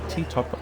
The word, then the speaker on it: Ti Top: It was supposed to be named Todd Island, but perhaps it became Tik Tok because they couldn't pronounce the V sound.